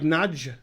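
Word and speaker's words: Nagy: It ain't pronounced like that. It's like a D sound, like Nadj, like Nadia Comaneci, Nad.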